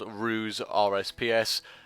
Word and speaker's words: RusePs: Today is going to be a server guide on a new server that's just been released called RusePs. I pronounce it Ruse, it might be Royce, stuff like that.